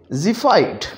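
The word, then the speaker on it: xiphoid: This bone is ए ज़िफाइट। कैसे pronounce करेंगे इसको? इसको हम प्रोनाउंस करेंगे ज़ीरोफाइट, इसको प्रोनाउंस करेंगे जाइलम, इसको प्रोनाउंस करेंगे ज़िफाइट। सो एक्स को हम प्रोनाउंस कर रहे हैं विद द साउंड जी।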